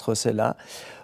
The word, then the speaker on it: Rossellat: C'est vrai que mon nom s'écrit avec 2 L et se prononce Rossella.